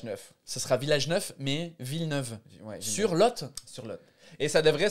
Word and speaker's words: Villeneuve-sur-Lot: c'est drôle parce que c'est écrit villeneuve sur moi j'aurais prononcé sa villeneuve sur lot elle voter parce que tu dis un lot de parking à l'o2 mais c'est sur le lot c'est pour ça que ça s'appelle villeneuve sur lot la lumière mais